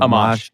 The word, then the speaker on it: Amash: Amash. Yeah, Amash. Yeah. Was he decent, or was he a possibility? He's one of the more libertarian congressmen in Congress. I am glad that Justin Amash entered the Libertarian Party.